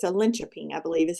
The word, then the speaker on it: Linköping: It's a Linköping, I believe is how you pronounce that.